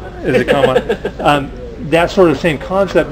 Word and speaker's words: Kanban: From a Kanban, whatever the right pronunciation is. It's Kanban. Is it Kanban?